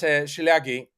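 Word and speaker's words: Szilágyi: You remember this lawyer from Hungary was on our program, MS Shilagi. I hope I'm pronouncing her name remotely Yes, correctly. MSS Yeah, Silagi, exactly.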